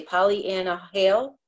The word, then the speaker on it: Pollyanna Hale: How I say Pollyanna Hale? Is that how you say it?